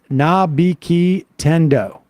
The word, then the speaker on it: Nabiki Tendo: For Sam, it's pronounced Nabiki Tendo.